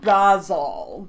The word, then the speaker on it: Basel: Art Basel.